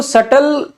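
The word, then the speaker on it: subtle: बस सटल देखो छोटा सा वर्ड है, सूक्ष्म वर्ड है, लेकिन इसका प्रोनाउंसिएशन बड़ा जटिल है, क्योंकि इसमें बी साइलेंट है।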